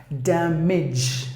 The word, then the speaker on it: damage: Any word ends with age, you have to pronounce the part as age, not age, not the long sound, but the short sound. Damage.